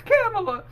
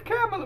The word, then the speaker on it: Kamala: So I meant, you know, whenever, you know, Trump got in and started calling her Kamala, it's Kamala. It's Kamala.